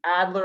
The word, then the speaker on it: Adler: properly um how adler when i see adler i think toddler he says that like